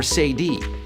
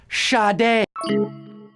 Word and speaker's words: Sade: a bet a de but it's pronounced shadi you 188 of you